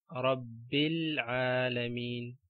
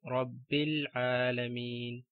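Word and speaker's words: رَبِّ الْعَالَمِينَ: For example, Rabbil Alameen, we join ba with lam and ignore the alif, we skip the alif. Rabbil Alameen.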